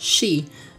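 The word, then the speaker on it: 四: Sometimes in Japanese, the number four can be pronounced she, which is same pronunciation of death.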